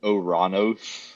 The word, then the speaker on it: Uranus: while we're on this apparently the original pronunciation of the planet Uranus was actually oranos oh oh that's such